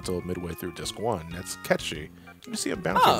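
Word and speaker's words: Cait Sith: is I thought was Kate sick oh uh no it's actually Kate she hates it but it's pronounced catchy it's a Gaelic I believe yes yeah you know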